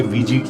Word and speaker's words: Ouija: करती है पहले है ये वेग बोर्ड्स की स्पेलिंग होती है ओ यू आई जे ए लेकिन प्रोनाउंस इन ए वेग किया जाता है इन्हें आपने